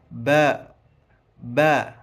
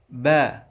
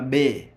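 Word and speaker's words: باء: Hebu na wewe tamka ba ba. Nadhani umetamka vyema. Wengine waswahili husema be lakini wenyewe waarabu wanaita ba.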